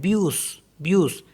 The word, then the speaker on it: bus: इसमें भी कुछ एक्सेप्शन है, जैसे BUS को पढ़ते हैं ब्यूस, तो इसमें जो ऐसे लास्ट में उसको पढ़ते हैं, प्रोनाउंस करते हैं।